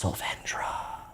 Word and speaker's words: Sandra: One of our uh newly minted favorite games is Sandra. Again, ask the devs. That's how you say it. So, if you if you're talking in VC and you're not doing Sandra, you're wrong.